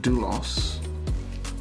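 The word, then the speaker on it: δοῦλος: the actual strong's definition strong number 1401 is pronounced dulos a slave literally or figuratively involuntarily or voluntarily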